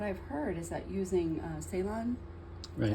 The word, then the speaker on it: Ceylon: And for cinnamon, what I've heard is that using Ceylon, is how you say it, is much better than all the rest. Right, the Ceylon cinnamon.